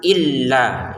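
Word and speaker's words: إِلَّا: saja lam yang ketiga di sini bukan hanya dipanjangkan tapi ditekan kan illa gitu ya. Ada tekanannya ya. Jadi yang ini panjang lima harakat kemudian dua harakat kemudian ini ditekan jangan sekedar lailaha ila ila enggak ada tekanannya ya. Kalau ungkapan enggak apa-apa lailahaillallah. Lailahaillallah itu enggak apa-apa ungkapan. Kalau sudah masuk ke Al-Qur'an wajib dengan tajwidnya ada tasdid wajib ditekan. La ilahailla huwal azizul hakim.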